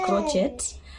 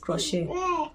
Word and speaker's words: crochet: but crochet okay that's some people call it crotchet but I think it's pronounced crochet so I crochet you